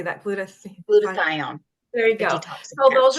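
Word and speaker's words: glutathione: um gluta how do you say that glut glutathion there you go so those are the ones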